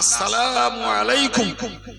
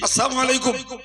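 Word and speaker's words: السلام عليكم: আমরা আসসালামু আলাইকুম এটা শুদ্ধ, যদি আমরা ব্যস্ততায় শুদ্ধ না করে বলি আসসালামু আলাইকুম আর ওই লাম আলিফটা আর উচ্চারণ হলো না, তাহলে প্রকারান্তরে শান্তির জায়গায় ধ্বংস কামনা করা হলো।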